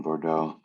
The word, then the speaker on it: Bordeaux: south of france um in bordeaux and i butchered i know there's supposed to be some kind of guttural throaty sound at the end of that but i can't do it uh yet um so i